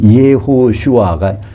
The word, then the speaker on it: 예호슈아: 정확히 말하면 예호슈아가 여호수아입니다. 그거를 헬라식으로 발음하면 뭐가 될까요? 예수스 그냥 예수스 그러니까 어 영어로 지서스 그거예요.